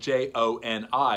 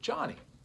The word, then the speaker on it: Joni: woman whose name is Johnny Erickson Tada. Her name is spelled J-O-N-I, and a lot of people do pronounce that Joni, but she pronounces it Johnny.